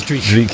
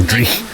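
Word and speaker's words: dreich: Do you call it mizzle or do you call it dri? It is dri. Yeah, dri. Right. I've been saying it wrong. Driek.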